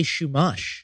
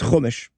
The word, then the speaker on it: Chumash: What is a shumash? Nope. It is chumash.